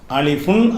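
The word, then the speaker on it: ألف: இந்த அலிப் என்பத வந்து சொல்லும்போது அலிஃபுன் அப்படின்னு எழுதி இருப்பாங்க. எழுதும்போது அது வாயில உச்சரிக்கும் போது அலிப். அலிஃபுன் அதனுடைய ஒரிஜினல் உச்சரிப்பு.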